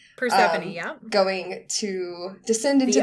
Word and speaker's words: Persephone: Persephone, yeah.